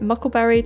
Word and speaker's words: Muckleberry: duckling has hatched and I call it muckleberry to rhyme with Huckleberry and I buy an